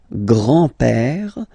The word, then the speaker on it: grand-père: Le grand-père. Remember, E accent grave like that. It's this opened père.